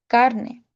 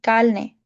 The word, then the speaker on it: carne: dialects to understand because they tend to pronounce their R's as L's. Let's take, for example, the word meat, which is pronounced carne, but they say carne.